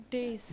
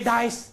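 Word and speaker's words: dais: Dace. Generally, dace. Let him come to the dace. People say dice. That is not the dace. Correct word. Dace. What is the word? Dace.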